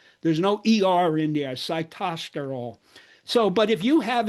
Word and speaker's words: sitosterol: She mispronounced this citto. I'm going to tell you how to pronounce it. So, the the molecule that was discovered in these kids is a phytosterile because plants make it, humans do not. It's cy cytosterol siterol.